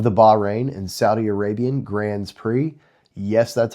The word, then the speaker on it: Grands Prix: Formula One announced the cancellation of the Bahrain and Saudi Arabian Grands Prix.